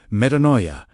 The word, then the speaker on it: metanoia: Metanoia, pronounced meh-tah-no-yet.